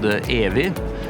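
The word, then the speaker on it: evig: In the context of our Norwegian origin, there's a word called Evi. It's spelled with a silent G at the end, but it means forever, eternal, endless.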